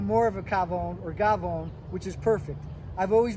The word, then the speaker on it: gavone: from the official dictionary of hardcore italians uh gavon spelled c-a-f-o-n but pronounced gabon with a g one who eats a lot